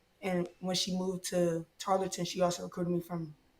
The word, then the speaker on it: Tarleton: Because I always say Charlton State. Am I saying it wrong? Tarleton State University.